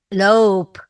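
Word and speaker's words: lopen: juga tah ketahui bahwa dia berbunyi panjang lope bukan lob ya Jadi dibacanya l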